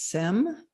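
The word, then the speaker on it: sems: Another word for that is sem, s e m.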